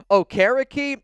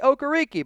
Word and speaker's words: Okereke: I can never pronounce this name right, so bear with me here a little bit. Bobby Okereke. I've also heard Bobby Okereke, but I believe it's Bobby Okereke.